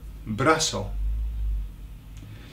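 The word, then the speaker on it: brazo: is bra bra okay pronounced in Latin America braso so how are you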